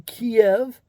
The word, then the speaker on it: Kiev: all of pharmacopia pharmaceuticals their headquarters are in kiev that's how you say it properly few jerks